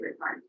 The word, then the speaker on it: Rickard: My name is Rickard, and you remember that by pronouncing it Rick, like Rick Rack, and then it's not pronounced at all like it's spelled.